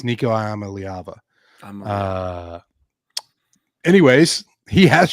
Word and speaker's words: Iamaleava: Nico, I am a Liava. I think is how Imamaliva.